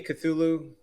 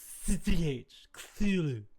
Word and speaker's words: Cthulhu: Are you setting me Cthulhu?